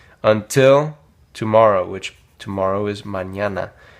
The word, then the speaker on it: mañana: Until tomorrow, which tomorrow is mañana. Now this is an ñ that we went over in my last video.